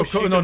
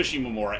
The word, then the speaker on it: Shimomura: Yeah, and Yoko Shigemuro. No, it was Coker, Greg Croker or something like that. Right. Sorry. And say Yoko's last name because I think I butchered it. Yoko Shimomura, aka the composer for such things like Kingdom